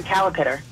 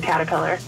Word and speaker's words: caterpillar: Kristen I'm from Lee I always said calipitter instead of caterpillar that sounds like something